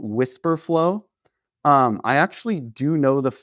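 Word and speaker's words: Wispr Flow: Whisper flow but it's spelled weird. So, it's w i s p r f l o.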